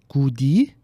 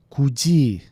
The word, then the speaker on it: 굳이: A lógica diria que a pronúncia é goody, mas em vez de ficar goody, ficou como 굳이. 굳이.